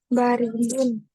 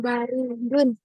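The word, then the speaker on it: بَارِدٌ: Al-banu baridun. Al-labanu. Al-labanu baridun. Al-labanu baridun. Gitu bacanya. Ulangi. Al-ba Al-labanin Al-labanu baridun. Bukan baridun, tapi Baridun. baridun. Yang panjang baknya.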